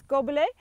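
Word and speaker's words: gobelet: and it's pruned in the goblet so to pronounce gobbley uh it's gob like spit all mouth gob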